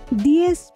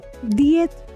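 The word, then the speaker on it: diez: 10 लाई स्पेनिसमा दिएस वा दिएत भनिन्छ, उच्चारण दिएत वा दिएस।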